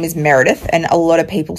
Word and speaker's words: Meredith: an accent here and Americans when you get to an R you really love an A so you tend to pronounce my name Merith like you you elongate the a sound so when I say Meredith it doesn't always translate um and I will